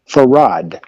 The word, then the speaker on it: Farad: Everyone who says that they had heard him use his name say that he pronounced his name Farad.